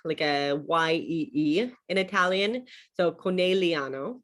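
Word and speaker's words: Conegliano: better than i do so the gli is pronounced as a like a yi like a y-e-e in italian so connelliano right and then a double consonant you always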